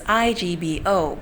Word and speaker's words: Igbo: culture of the indigenous Igbo people. Now, if you Google it, Igbo is spelled as IGBO, but the G is silent, so it is pronounced as Igbo.